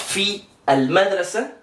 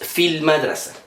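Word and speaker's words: في المدرسة: nos indica Es que este alif no se pronuncia y Entonces pasamos de esta vocal a esta l de corrido no Entonces no decimos fi al madra sino que decimos Fil madra no para escribirlo aquí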